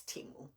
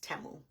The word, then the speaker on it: Temu: I say temu and they say it's timu so I Googled it and originally it states that the correct name is temu it's temu and they changed their name to timu or they started pronouncing it timu so that people in the US can pronounce the name better but originally it's temo so in case you guys wonder why I call it temo well that is why in the commercial it